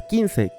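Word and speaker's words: 金星: Es el dios guerrero de las finanzas, y este hecho se refleja en que el planeta que representa, Venus, en japonés se pronuncia Kinsei, que literalmente significa estrella de oro o de metal.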